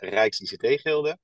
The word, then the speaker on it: Rijks-ICT Gilde: Yeah, so I will pronounce it correctly. My name is Robert Boss. I'm from the Rijks-ICT Gilde, typical Dutch name.